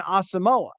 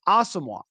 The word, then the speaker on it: Asamoah: round pick from 2022 was known as Brian asamoa but Brian himself asked the public relations to pass along that his name is pronounced asamoah and I don't know